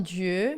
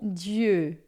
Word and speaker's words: dieu: Lembrando aqui a pronúncia de du não é de e nem de o. Vai ficar de é uma mistura desses e e o. Você vai fazer uma boca de o como se fosse falar o normal e